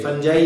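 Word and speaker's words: fungi: उसके एग्जाम्पल जैसे फंजाई या फंगी भी बोल सकते हैं, दोनों ही बातें सही है, दोनों ही प्रोनाउंसिएशन सही है।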